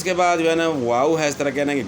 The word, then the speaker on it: واؤ: واؤ ہے۔ اور اس کے بعد واؤ کو جو ہے نا اس کا تلفظ، اس کی ادائیگی کس طرح بتانی ہے کہ دونوں ہونٹوں کو گول کرنا ہے۔ اس میں واؤ کی